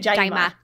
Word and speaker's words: JIMA: They say, in the show they say it JIMA.